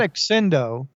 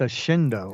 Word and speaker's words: Accendo: of your P podcasts it's not accendo it's a shendo a shendo yeah apparently double consonants in Italian or in in Latin are just pronounced differently than you know each